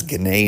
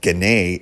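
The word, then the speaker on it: Ginna: Gana is spelled at G I N A. One of the many things in Western New York where you're like, "Yeah, that does not sound like it's spelled."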